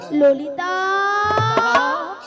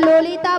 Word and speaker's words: ললিতা: ওটা লালাইও নয় হ্যাঁ। আর ললয়ও নয়, তাহলে বলো হ্যাঁ। ললিতা। লো লো লো লো লো। বলো ললিতা, ভালো করে উচ্চারণ করো।